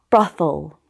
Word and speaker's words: brothel: The TH is often pronounced as th when it stands in the middle of words. For example, heathen, worthy, swarthy, brother, father, mother. The only word which doesn't follow this rule is brothel.